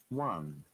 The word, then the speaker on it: one: say own okay it is one same as o any one even the american ips is the same one one this one w a and in phonetic symbol let me share with you guys so that we can understand can you see this ipa 1 w a n if i won the